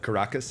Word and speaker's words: Caracas: But you were born in, I'm probably gonna butcher this, but Caracas, is that how you say it? Yes, All right, Caracas, Venezuela, and moved to Miami in 2015.